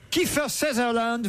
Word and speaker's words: Kiefer Sutherland: Kiefer Sutherland, Ah, c'est comme ça qu'on prononce.